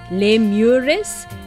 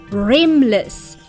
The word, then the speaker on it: Remless: and they were just writing it out phonetically, like lemures. But these things, they're called remless, R-E-M-less, like, you know, like rapid eye movement sleep, which is what happens